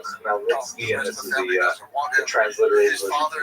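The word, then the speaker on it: Khmelnytsky: The pronunciation is definitely Bogdan Chmelnytsky, and this is the transliterated version of Ukrainian.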